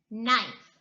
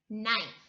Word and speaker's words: knife: And the last one, knife, knife. The K is silent.